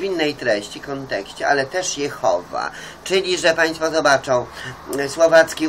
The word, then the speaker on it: Jehowa: No to więc niektórzy mówią Jehwa, Jahwe, ale to trzeba mówić tak, jak jest przyjęte w danym języku i koniec, sprawka zamknięta. Jehowa jest przyjęte, a tyle tylko, że linia mysia się wściekała.